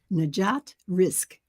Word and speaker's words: Najat Rizk: well now I want to introduce my guest najat risk am I pronouncing it right absolutely oh fantastic fantastic well